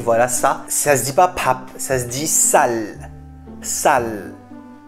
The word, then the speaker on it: 밥: En fait, à la fin, le piup, il faut vraiment légèrement le prononcer, mais si vous ne le prononcez pas, ça fait pa.